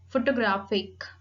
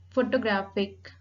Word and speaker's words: photographic: Photographic. Photographic. Primary accent on the third syllable, graphic.